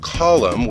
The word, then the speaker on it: column: So for example, they would write the word column with a silent N at the end because that's how the Latin word is.